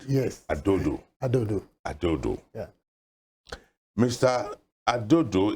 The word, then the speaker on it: Adodo: Did I get the pronunciation right? Yes. Adodo.